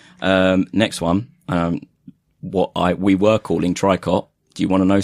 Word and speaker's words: tricot: Next one, we were calling Tricot Do you want to know something? We've done a distrage. Oh, is it Tricot? It is Toriko.